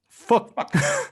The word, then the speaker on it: Phuc: And the funny thing is, even your dad's first name is written in Vietnamese Phuc, which is pronounced as fuck.